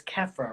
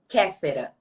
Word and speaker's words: Kefera: saying your name wrong it's Khafre right actually it's Canada but I know this sounds a little bit difficult because reading your name I would say like camera but yeah yeah yeah